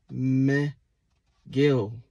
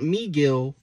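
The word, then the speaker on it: Mejía: a white dude Tyler meh Gill not Miguel Miguel last one I have is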